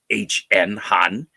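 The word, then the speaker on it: Hahn: That's spelled H-A-H-N, Han.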